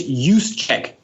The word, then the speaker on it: Juszczyk: It's Juszczyk.